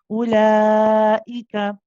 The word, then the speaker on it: أولئك: We do not read this waw. Okay, this is there for another reason. It's not there to be pronounced. So the hamza is actually just 1 count. We say ula, not ula. Okay, ulaika.